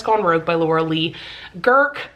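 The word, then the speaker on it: Guhrke: by Laura Lee Girk, or Laura Lee Girky is how the audiobook narrator pronounced her last name, and that just doesn't sound right to me. But who knows? That very well could be what her name is, but I've always pronounced it as Girk.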